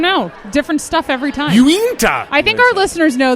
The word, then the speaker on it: Uinta: When I walked past the table, I was like, "Oh, Unita's here," and then I realized, "Whoops, nope." Uinta. Yes, I Uinta. Like you into that.